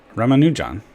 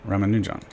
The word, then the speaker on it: Ramanujan: ramama how do you say his name Raman ramanujan right ramanujan he's my favorite uh Indian of all time